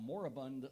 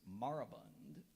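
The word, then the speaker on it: moribund: part of the now moraband literature Club moraband are there any alternate pronunciations there's moraband moraband m o r i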